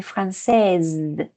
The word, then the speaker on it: française: Donc ici, on dit français, mais pour féminin, on dit française. C'est les Z, ça finit en Z.